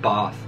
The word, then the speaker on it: bath: in the uk because i say bath instead of bath uh we get a